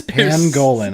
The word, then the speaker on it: pangolin: now because of you goddamn it's pangolin i'll help you out